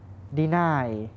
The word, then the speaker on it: deny: ต่อ มา นะ ครับ deny deny deny อัน นี้ คือ เรา จะ ออก เสียง หนัก ข้าง หลัง นะ ครับ deny deny นะ